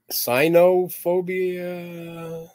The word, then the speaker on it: Sinophobia: Not sinning. No, that's a sinning. It's Sinophobia.